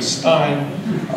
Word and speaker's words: Stein: Even though he pronounces his name Steen and I pronounce my name Stein, we do have a common ancestor with a mutation somewhere.